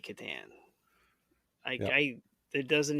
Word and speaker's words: Catan: the last major question is, how do you pronounce Klaus Teuber's game, The Settlers of? Catan. It has Yep. to be Oh, Catan.